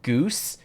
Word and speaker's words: GOOS: LM okay now I'm remembering uh when I was when I was a former employer I learned that Goos and go Arch are canonically pronounced goose and gorch this is information that